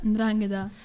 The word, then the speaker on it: 'Ndrangheta: Vabbè, dai, l'unica che manca, 'Ndrangheta. Brava, corretta, l'hai anche pronunciata in modo corretto.